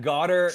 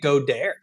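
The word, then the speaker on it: Goedert: I've been pronouncing it Godare. Is it not Godare? I think it's Goddard, but Godare is really fun. I think it's Goddard as well, but Godare is a good interpretation of it. Super fun. Isn't Godare like a French pronunciation? It's kind of funny that you went with like the French pronunciation.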